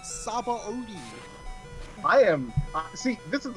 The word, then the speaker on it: Sabaody: She says, okay, she pronounces Sabaody Archipelago as Shabondi. It's supposed to be Shabondi. That's how it's pronounced. No, it's not. It's not pronounced that. Both the Japanese and English dubs pronounce it as Sabaody.